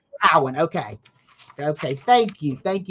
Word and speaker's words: Cowan: so please welcome judge Cohen how are you and am I pronouncing your last name correct it's Cowen Cowan okay okay thank you